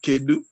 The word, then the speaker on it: Kedu: Hello is Kedu.